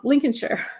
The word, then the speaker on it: Lincolnshire: Lincolnshire, right? Perfect. Oh, okay. So this is my English pronunciation with my Southern accent.